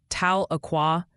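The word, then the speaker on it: Tahlequah: It's something like Tala Aqua.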